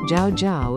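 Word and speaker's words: 叫: Ni is third tone, jiao is fourth tone, shen mi xian mi is second tone, mingzi is second and fourth tone.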